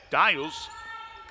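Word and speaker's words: Diehl: I knew a preacher that last name is D-I-E-H-L, and he pronounced it Dial, so that's what I'm going to say.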